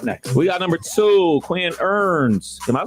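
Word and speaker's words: Quinn Ewers: Kev what's up next we got number two queen earns am I pronouncing his name right who Quinn you were Quinn yours yeah I'm Yours number one quarterback prospect in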